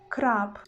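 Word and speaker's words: хлеб: you see it's crap you see that in the end of this word we've got letter where but when we will pronounce this letter in the word it will sound like listen attentively crap crap crap it's already not boo it's in the next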